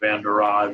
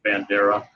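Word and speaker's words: Jared Vanderaa: a really cool dude he said half of his family i think pronounces his name van der rohe the other vandara and i think he pronounces it bandera but um good good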